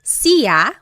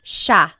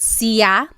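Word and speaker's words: siya: It looks like it should be pronounced sa, but it's actually pronounced sha sha. There are some regions in the Philippines that might pronounce it sa but for the most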